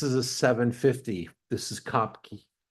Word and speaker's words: Kopke: This is Kopke. I think you pronounce it Kopk. Some of us will say Kopke. I said Kopke forever until they corrected me about 10 times.